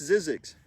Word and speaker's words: Zzyzx: uf glows is this one that can't be pronounced that's Zzyzx can't be pronounced it can be god's is